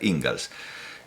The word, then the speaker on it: Inglis: Se escribe Inglis, pero se pronuncia Ingalls.